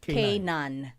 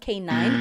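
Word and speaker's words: K'naan: Kan. Not K9.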